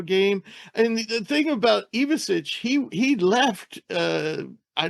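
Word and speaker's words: Ivišić: by the way it's now they want it pronounced evasic uh people always said iich but now it's iich I got that straightened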